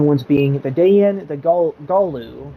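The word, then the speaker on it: Gallu: Those 3 new ones being the Dayan, the Galu, which I always pronounced it Galu, which is incorrect. It's actually Galu, not Galu, Galu.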